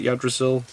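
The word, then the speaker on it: Yggdrasil: the world of odd result because our we pronounce it your Drasil explained Pandora's actor explained overload season 3 changes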